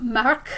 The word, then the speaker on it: Marc: So Marc, we pronounce that K at the end of his name.